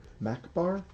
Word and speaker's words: macabre: were trying to achieve macbar when how do you say the word cobber I've heard the word macabre I've never heard Macabre m-a-c-a-b-r-e yeah the re is silent the only reason I